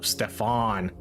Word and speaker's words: Stefan: Oh, Stefan, like Stefan Marbury or Stefan from Family Matters.